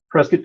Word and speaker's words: Prescott: So it's Prescott, kind of like biscuit. So that's something we say here. And it's been debated. So whether it's Prescott or whether it's Prescott.